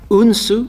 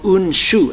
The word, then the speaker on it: Unsu: probably gonna go with unsu or un shu as it's originally called different styles have different pronunciations it doesn't really matter